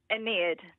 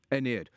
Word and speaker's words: Aeneid: How do you pronounce it? Well, you were very close. Right. Aeneid. Aeneid.